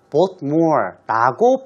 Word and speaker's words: Voldemort: 그런데 작가가 원래는 영어가 아니라 불어식 발음이기 때문에 T를 쓰면 안 되고 Voldemort라고 불러야 한다고 이번에 처음으로 폭로를 했다고 얘기하는군요.